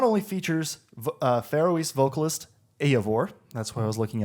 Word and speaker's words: Eivor: So it says that this not only features Faroese vocalist Eivor.